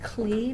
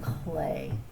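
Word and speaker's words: Klee: book inspired by paul clay and his name looks like it would be pronounced clee but it is clay by geraldine elshner and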